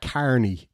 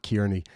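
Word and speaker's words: Kearney: as an Irishman um we pronounced that Carney not kiery um it's only when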